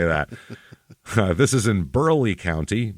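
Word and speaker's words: Burleigh: down let's just say that this is in Burley County b r l e i g county yeah Burley didn't expect that did you that's why I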